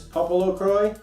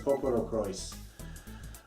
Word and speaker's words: PoPoLoCrois: Popolocroi. You sure? Yeah. This is an import. If Cool. I'm to judge by the Japanese on the spine, which says Popolocrois. Oh, I guess you pronounce the S. Popolocrois.